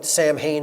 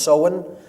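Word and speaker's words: Samhain: in the mid midpoint of fall is soen pronounced soen it looks like Sam Hayne in English but it's pronounced soen uh in gaic and that is Halloween or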